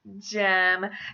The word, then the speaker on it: Jem: alternative I have is Jem Jem is diminutive of the names James or Jeremiah a lot of people when they say gem will thank Jim Finch would which is